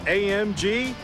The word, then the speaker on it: AMG: As for those 3 little letters, AMG, well, we're told the proper German pronunciation is AMG.